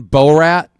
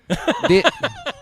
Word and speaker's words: Borat: Have we ever seen Bor Rat? Like never seen Borat. The guy with the gray suit. Borat. Yeah. Borat. Borat. Yeah. I thought you were saying Bor Rat. Borat.